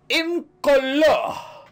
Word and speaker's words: Incolore: Hello there, today I am playing Incolore. I had to pronounce it like that because apparently it's French.